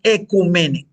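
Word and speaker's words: ecúmene: Se escribe o ecumene, no, pero es ecumene.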